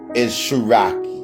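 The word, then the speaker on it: Tsaraki: actual name, because what their real name is Sharaki.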